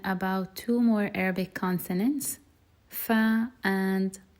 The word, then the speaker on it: ف: Firstly, fa, it happens, or the pronunciation of it happens when the bottom lip meets the upper teeth. Fa, fa, fa. And it's just the same, it's almost the same as the F sound in English.